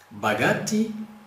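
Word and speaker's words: богатый: Nós temos um que é bagati, bagati. Você veja que o som forte está aqui no A, por isso que a gente pronuncia como se fosse A novamente aqui, próximo do A, né?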